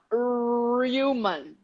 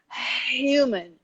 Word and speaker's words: human: our ha it's not it's not ruman or roman okay it's human double r like in portuguese did you know this